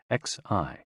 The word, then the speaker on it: Xi: with the spleen and XI pronounced like she which connects the whole